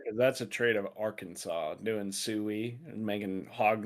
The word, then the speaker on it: Arkansas: You know the Clintons are from Arkansas. Yeah, I do know that. No, it is not pronounced R Kansas.